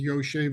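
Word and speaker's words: ישב: But lo and behold, the word Yoshev is missing a letter. It's spelled Yud Shin Bet. It's missing the Vav, Yoshev. We read it as Yoshev as if there's a Vav there, but it's missing.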